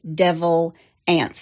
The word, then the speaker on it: Devil Anse: by one of his direct descendants it is pronounced devil ants like a n TS it's spelled a NS